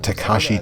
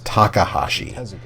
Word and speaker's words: Takashi: super mario 2 episode i mispronounced takashi tezuka's name as takahashi i put a correction